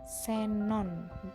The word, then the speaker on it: Xenon: nama diri dan ilmu huruf x pada posisi awal partai diucapkan es misalnya nih huruf x kan menjadi Xenon dan cek ya jadi Xenon kan dia pakai FB Xenon bukan X Xenon yaitu akoya kemudian ada